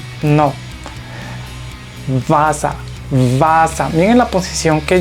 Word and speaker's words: Wasser: La W en alemán la pronunciamos como si fuera una V. Entonces esta palabra se lee Wasser, Wasser, no se lee Wasser, no, Wasser, Wasser.